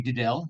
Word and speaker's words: Diddel: First of all, the pronunciation would be Diddell. Think of it like farmer and Diddell.